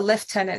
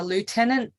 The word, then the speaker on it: lieutenant: as an officer uh you're a left tenant and by the way I I do say it correctly in the Army there they're a left tenant in the Navy they're a lieutenant and they they're not